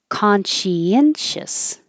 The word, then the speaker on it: conscientious: thing to do conscience conscientious now this is weird because we're dividing science which here is shins into two syllables she in conscientious conscientious conscientiousness so you're